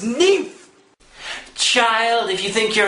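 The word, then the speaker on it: NIMH: And all you've had to sit through is a secret of Nim 2, and you can't even fucking pronounce its name right. Fuck you! It's pronounced Nymph.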